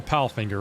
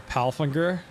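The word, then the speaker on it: Palfinger: my pal finger and it is called a pal finger right it's not called like a pal finger with a soft G oh we didn't set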